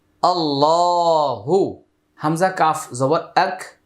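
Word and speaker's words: الله: একটি লাম উচ্চারণ হবে আল্লাহ শব্দের পূর্বে জবর আসছে। তাই আল্লাহর উচ্চারণটা মোটা হবে। আল্লাহ শব্দের মাঝখানে যে লাম এটা মোটা হবে।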